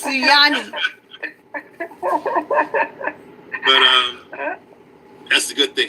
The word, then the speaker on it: Sunyani: I think that's the Native American in me when I say Sunni, but it's Suyani.